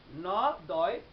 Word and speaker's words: নদী: যেমন একটি শব্দ যদি বলি নদী, ন দয় দীর্ঘ ইকার, কিন্তু উচ্চারণ কিন্তু আমরা হ্রস্ব ইকারের মতোই করে থাকি, নয়কার দয় হ্রস্ব ইকার, নদী।